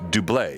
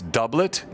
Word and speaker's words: doublet: said uh doublet and i've always pronounced duble is that correct or am i wrong it's doublet i trust the